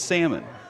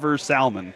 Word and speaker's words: salmon: Now, salmon is always salmon. Never salmon.